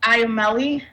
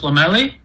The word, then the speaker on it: Lomeli: I think I mispronounced your name, but can you state your name for the record and please proceed with your testimony? Yes, ma'am. My name is Lomeli, and I'm a program coordinator at SEBA.